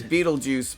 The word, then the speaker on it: Betelgeuse: That's how you pronounce it. It's Beetlejuice, but it's, Oh, that's weird.